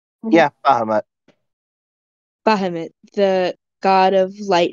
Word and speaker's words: Bahamut: and I say in Draconic, uh, uh, Bahamut is how you pronounce it, right? Yeah, Bahamut.